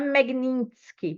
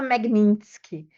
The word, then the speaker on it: Magnitsky: a lei Magnitsky, né, não é Magnitsky, porque o T é mudo, é mas eu adoro falar Magnitsky, mas é Magnitsky. Eu escrevi Magnitsky, Mas o T é mudo, seria Magnitsky, que é o igual sobrenome esqui.